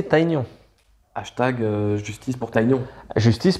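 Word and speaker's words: Tygnon: Faudrait le prononcer Taignon.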